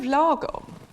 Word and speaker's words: lagom: My colleagues in the UK still call it lagom. Lagom is a Swedish word, and it means the right amount is best.